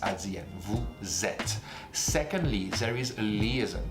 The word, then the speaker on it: vous êtes: Vous êtes. Accent circonflexe, this accent on the E is pronounced E. Think about 7 in French. Sept. Sept is E. Vous êtes.